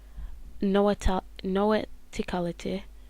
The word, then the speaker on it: noeticality: Noeticality, yeah, that's how you say it, which leads to awareness of spiritual truths and understanding.